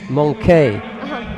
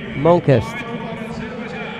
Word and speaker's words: Monquest: Because I thought it was Monkey, but it's Monquest.